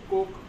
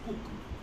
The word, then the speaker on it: Coke: parliamentary world i could coke actually i pronouncing coke wrongly it is spelled as co would you pronounce it as cook king charles the first now charles the first ruled england from 1625 to 1649.